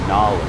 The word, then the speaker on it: knowledge: Again, no K sound. We have knowledge.